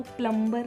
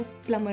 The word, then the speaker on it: plumber: और हाँ, जो हमारे घर में हमारा नल ठीक करने के लिए जो शख्स आता है, PLUMBER, वो प्लम्बर नहीं है, वो प्लमर है। B is silent, प्लमर, नॉट प्लम्बर।